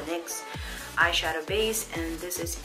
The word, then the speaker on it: NYX: like at that and y/x necks however you want to pronounce it I call a NYX eyeshadow base and this